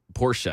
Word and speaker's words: Porsche: I honestly forgot that it was Porsche. I always say Porsche, but fair enough.